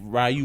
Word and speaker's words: Ryu: Niggas they say his name is Ryu, not Ryu.